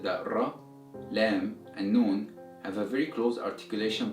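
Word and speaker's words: نون: that ra LEM and noon have a very close articulation points now as you pronounce the letter known the air comes out from your nose so it's accompanied by a nasal sound and that's how you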